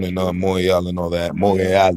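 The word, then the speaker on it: Montréal: Montreal, you gotta say it like that because that's how she used to say it, nigga.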